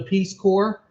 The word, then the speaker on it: Peace Corps: oldest friends is considering joining the peace corps that's how you pronounce that word as you guys probably